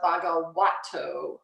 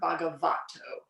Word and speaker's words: Bhagavato: be aware of is in Pali, when you see a V, it's actually pronounced like a W. So so you'll see the first thing under the three refuge, it's Namo Tassa Bhagavato Arahato, not Bhagavato.